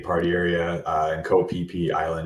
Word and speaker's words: Phi Phi: area uh in co- PP Island it's spelled Phi Phi but they don't have the pH as an F sound so it's pronounced PP um that's uh very